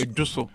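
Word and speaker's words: Ejisu: It's pronounced Ejiso.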